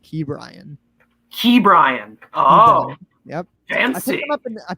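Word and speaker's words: Ke'Bryan: like a 700 average brian hayes is gonna have a crazy bright yeah no it's actually i heard it's actually pronounced key brian key brian oh yep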